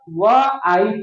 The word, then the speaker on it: wife: तो WIFE, ई silent हो जाएगा, वाइफ, वाइफ हो जाएगा, हिज वाइफ।